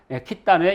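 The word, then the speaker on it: Khitan: 그리고 러시아는 말 그대로 그냥 키탄에 이게 늘어나서 키타이. 이것이 이제 캐세이와 같은 발음인 거죠. 캐세이, 키타이. 그리고 영어가 이제 캐세이가 됩니다. 그런데 거란 사람들은 이걸 어떻게 읽었을까? 저는 이 발음이 가장 정확하다고 봅니다. 키탄.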